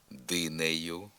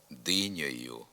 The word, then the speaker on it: динею: м'якої і мішаної груп вимовляється голосний е наприклад динею працею грушею гаєві товаришеві гаєм товаришем вимова тут замість е звука о диньою рацею грушою Гайові товаришові гайом товаришом відома в багатьох говорах не відповідає літературній нормі у м'якій